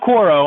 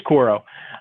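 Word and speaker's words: Quaero: uh cor chord q-u-a-e-r-o i can't pronounce quote it's not quoro i think it's koro um and and then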